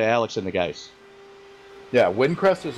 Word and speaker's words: Windcrest: Windcrest? Windcrest, yes. It is Windcrest.